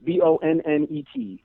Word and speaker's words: Bonnet: It's spelled Bonnet. And I won't correct you if you say it wrong. 1 T. What'd you say? 1 T, right? 2 T's. Bonnet. Oh.